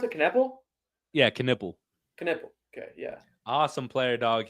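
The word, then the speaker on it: Knueppel: How do you pronounce it? Knipple? Yeah, Knipple.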